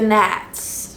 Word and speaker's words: gnats: We get gnats, which is just gnats, but gnats is spelled with a G, so I call them gnats most of the time.